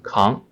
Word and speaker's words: 扛: It has two pronunciations. The first one, 扛, 可, ang, 扛.